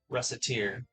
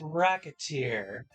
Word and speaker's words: Recettear: That's where the name of the stop comes from, Recettear. Although it's like, yeah, if you pronounce it improperly, it can come off as Racketeer.